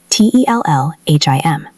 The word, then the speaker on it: tell him: So, we connect the L from tell directly to the M of him. It sounds like tell him.